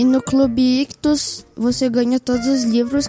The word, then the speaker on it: ICHTHUS: Lembrando que Ictus se escreve ICHTHUS. Então tem 2 Hs, tá bom?